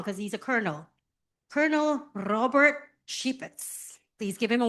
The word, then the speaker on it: Robert: Normally I would pronounce this Robert, right? It's a very Anglo pronunciation, but I was told I have to roll my R, so, and I don't